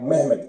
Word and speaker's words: Mehmet: You know they used to spell Mohammad like Mehmet, M-E-H-M-E-T. It was like a Turkish pronunciation, because the Turks, the Ottomans, were the biggest threat to the Europeans, so they thought everything Islamic is Ottoman.